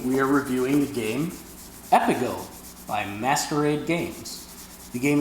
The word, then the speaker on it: Epigo: This episode of Table for Two Show was recorded before we learned the correct pronunciation of this game, which is Epigo. Every time we say Epigo, pretend we are saying Epigo instead.